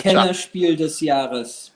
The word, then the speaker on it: Kennerspiel des Jahres: It was something like maybe Kerspiel, was it? I cannot say it because it's German and only Hjalmar can speak German here.